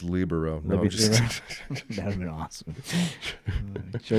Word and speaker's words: libero: what the libero is libero guy yeah it's pronounced libero that would been awesome sure you don't know